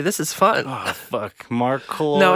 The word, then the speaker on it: Marcloid: Oh fuck, Marcloid. No, it's okay. It's how it's spelled. It's just Marcloid.